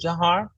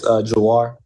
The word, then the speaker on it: Jawhar: Hey, Jawhar, it's Kim Davis from Chalk Talk. Congratulations. Looking forward to meeting you in Houston. Am I saying your name right? Is it Jawhar? No, ma'am, it's Jawhar.